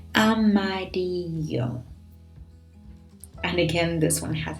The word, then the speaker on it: amarillo: Amarillo. So careful with the pronunciation there of double L, which is a bit different from a single L. So double L becomes a bit of like a Y. Amarillo.